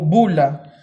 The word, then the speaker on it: bulla: A esto se le conoce como bula o bullya etmoidal. Se escribe literalmente como bulla, así bulla. Buya, buya.